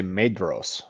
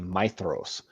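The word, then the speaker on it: Maedhros: lot of people say MOS when they're talking about feanor's eldest son but it's actually myos the DH is actually a th that's how it's pronounced I hate that I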